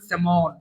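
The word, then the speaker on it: salmon: স্যালমন কিন্তু উচ্চারণ করবে সেমন ঠিক আছে এটা কিন্তু এলটা উচ্চারণ হবে না ক্যানন তো এই ওয়ার্ডগুলো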